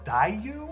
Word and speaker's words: Daiyu: planet this planet is called daiyu i think that's how it's gonna be pronounced the writer of the